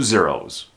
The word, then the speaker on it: zero: followed by three zeros when pronouncing the word zero make sure you're using a z sound the sound comes from here Z it's almost like an S sound s s except there's vibration Z and there's vibration here